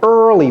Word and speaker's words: early: Early. Vous voyez comment j'ai prononcé ça? The early universe. Early. J'ai pas dit ear, quand bien même le E-A-R, c'est ear, n'est-ce pas?